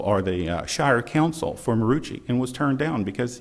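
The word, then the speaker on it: Maroochy: It's Marucci, just like it's spelled.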